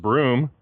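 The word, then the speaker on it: Bruttenholm: paranormal whiz kid Trevor Bruen Holm pronounced broom dubs him Hellboy 50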